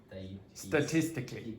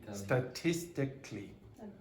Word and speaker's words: statistically: One of those sounds disappears completely, so you get statistic.